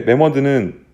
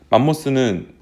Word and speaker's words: 매머드: 맘모스랑 같은 거예요 근데 매머드는 원래 정식 발음이고 맘모스는 예전에 우리가 영어가 이제 일본에서 들어왔잖아요 마모스 이렇게 읽었어요 그래서